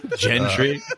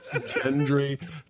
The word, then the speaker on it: Gendry: uh Derek bombar or Gendry Gendry the hard gee wildings yes so so